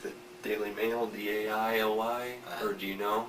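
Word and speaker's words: Daly: Is that spelled like the Daily Mail, D-A-I-L-Y, or do you know? D-A-L-Y. Yeah, just Daily.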